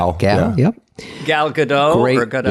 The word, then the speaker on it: Gal: Gal? Gal.